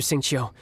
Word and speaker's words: Xingqiu: Understood, Master Xingqiu. Then I will leave you in peace. Xingqiu, that's how you pronounce his name.